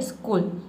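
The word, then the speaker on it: school: हैं क के एग्जांपल देखिए यहां पे स्कूल स्कूल में आपने ध्यान नहीं दिया होगा आपको आप पढ़ते होंगे लेकिन आपको पता नहीं होगा कि यहां पे सीए को हम क पढ़ रहे हैं ठीक है देख सकते हैं इसमें हम सीच को क पढ़ते हैं तभी जाके इसका प्रोनंसिएशन बनता है स्कूल ठीक है स्कूल कहने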